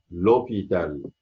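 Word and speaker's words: hôpital: لو اوبيتال ما ينفعش اقول كده، الاو بعدها او، القش كانها مش موجوده صامته، فبالتالي بتبقى الاو بتتحذف تتحط ابستروف، فانطقها لوبيتال، المستشفى.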